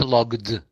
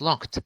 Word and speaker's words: locked: No, it's not logged. It's locked. I locked the door.